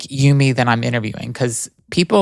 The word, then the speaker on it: Eumie: Is it Eumie? It is Eumie, like Eumie. Yes. Okay, got it. Perfect pronunciation.